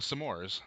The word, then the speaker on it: s'mores: S'mores. One syllable. S'mores. Not Some s'more. more. My Bumper Patrol is when people say s'mores. It makes sense it's- because you want some more, but it also has an apostrophe.